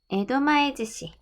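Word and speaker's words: 江戸前寿司: 스시 앞에 다른 말이 붙으면 땐이 붙어서 즈시라고 보통 발음을 해요. 에도마에즈시.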